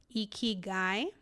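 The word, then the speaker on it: ikigai: you can monetize is this Japanese concept of eeky guy.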